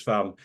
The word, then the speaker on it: Parme: No, it's farm. You don't put an accent on the last Parme.